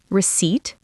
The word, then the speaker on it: receipt: Then we practiced some key vocabulary: jewelry, bargain, receipt, remember the P is silent, purchase, and apparel.